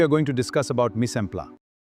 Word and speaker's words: mise en place: Remember the pronunciation. The techniques of mise en place may be broadly divided into two categories, subdivision and fractionalization, and combining and mixing.